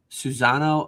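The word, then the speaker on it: Susano'o: I have no idea if I'm saying it right, but it's like Susanoo. Oh, it's like s u s a n o apostrophe o. Susanoo.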